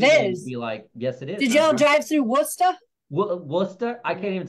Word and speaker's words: Worcester: Did y'all drive through Worcester?